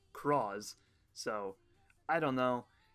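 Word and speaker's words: Cross-Z: It's written out in the katakana like claws, and so everybody thought it was going to be claws, and then we found out that it was it's spelled in English like a cross Z, but still pronounced Cross.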